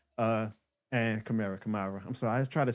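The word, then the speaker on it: Kamara: Um, if I had a followup, definitely Alvin Chimera. Uh, and Chimera Kamarra, I'm sorry.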